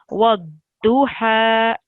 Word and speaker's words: والضحى: Just this letter is pronounced do. والضحى. So, sorry, I misled you. It's a dod, but when it has a dam on it, then it's do. So it's wadduha.